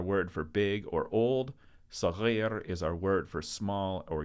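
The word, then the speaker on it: صغير: Saghir is also a word that American students have a consistent problem mispronouncing. So listen to it carefully. Saghir. There's not an extra R in there.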